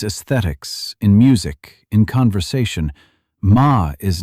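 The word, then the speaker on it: 間: It is written mom and pronounced ma.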